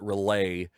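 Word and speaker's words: R'lyeh: a city called and it goes back and forth on how you pronounce it i pronounce it relay um and it is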